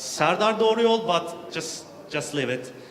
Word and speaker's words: Serdar Doğruyol: is also great about my name is hard to pronounce it's sardar Dorie old but just just live